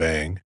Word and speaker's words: Aang: series The Last Airbender his name in the film is pronounced on instead of Ang the casting of a